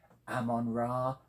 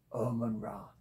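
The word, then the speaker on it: Omon Ra: by the cover art it's Victor pal Evans Ammon ra not Oman ra as it looks to be I'm assured that is the correct pronunciation it's a postmodern fiction and what it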